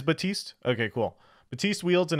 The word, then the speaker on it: Baptiste: do you have or is it just batiste how do I pronounce this I'm such a pleb I used to be cool used to know my words I see this role support batiste it is batiste okay cool batiste wields